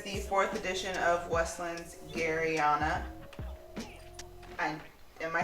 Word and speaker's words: Garryana: but this is the fourth edition of westland's garianna i am i saying it right i hope you're saying the garriana which is arianna ariana gary yeah it's a